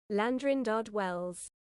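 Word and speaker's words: Llandrindod Wells: godamn respect I'm British We're British I just pronounced that with the help of Google salute anyway land let me say that again landrin DOD Wells there you go after accidentally stabbing himself in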